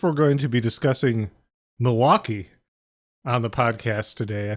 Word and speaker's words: Milwaukee: You know, Milwaukee is an indigenous name. It's actually pronounced Milly Wauke, which is Algonquin for the good land.